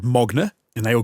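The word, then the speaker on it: Magne: appear to be norwegian his name is spelt magna m-a-g-n-e but they say mogner interesting okay well you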